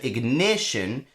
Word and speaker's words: ignition: Something that doesn't rhyme perfectly with consternation is like the word ignition, because the stress of ignition is ne.